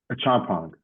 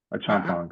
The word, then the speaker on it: Acheampong: currently in Detroit Michigan all right hold on pronounce your name again a champong a champong how you spell that a c h e